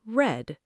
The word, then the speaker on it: read: Past read sounds like red.